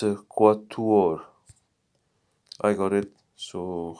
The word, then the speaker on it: quatuor: Okay, quator. I'm not so. I was going to say I'm not so sure about that. Yes, it's quatuor. I got it. So how do you say it? It's quatuor.